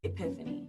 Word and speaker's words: epiphany: Epiphany. Epiphany? It starts with an E, not an H. I've been saying it wrong this whole time.